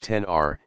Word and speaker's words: XR: iPhone for battery life the iPhone XR pronounced 10 R is a cheaper smart